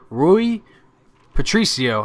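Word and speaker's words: Rui Patrício: one I really like Ru ruy Patricio I think is how you say it and to be honest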